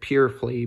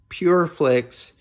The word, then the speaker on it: PureFlix: sports is a christian it pronounces it purely because it's spelled with an x at the end but pure play plurt pureflix is a christian entertainment